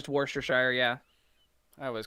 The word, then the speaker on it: Worcestershire: look it's the best by knowledge it's just worcestershire yeah i always call it but it's spelled warchestershire why do they have to make